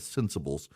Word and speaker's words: Centsables: And the cents is spelled like dollars and cents, C-E-N-T. So CENTSABLES, Sensibles.